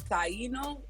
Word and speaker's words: Taino: you say what it's called because the top Taino spirituality is how you say it yes okay